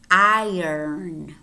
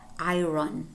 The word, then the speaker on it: iron: following word iron iron what happens here is that the earth is not really silent but it moves and then you say iron iron iron it is not i run its iron similar to i earn a lot of money iron iron iron okay